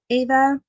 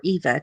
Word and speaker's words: Ava: how i spell mine ava gets eva which um looks like eva but i've seen it pronounced either way ava or eva depending on the person and avis i get